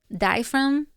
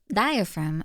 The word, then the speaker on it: diaphragm: Oh, fragm. I like fragm more. It's funny. I don't do silent letters. I'm not French. It's disgusting. Guys, you should stop being so French and just say the sound that's written on the paper.